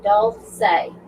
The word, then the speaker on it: Dulce: Lisa said her name is pronounced Dulce.